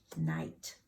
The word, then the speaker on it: night: that we talked about and that GH those troublemakers they are silent we call those the consonant troublemakers because they just don't even make a sound all right and you